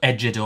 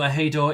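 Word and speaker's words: ejido: Uh, which is a I only I listened to the pronunciation because I would have pronounced it ejoro or something. So, Ahido in Mexico is a piece of land farmed communally under a system supported by the state.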